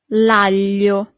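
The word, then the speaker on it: aglio: The garlic lio. Lio. Here we have this combination of letter that for foreigners is always a little bit e hard to pronounce.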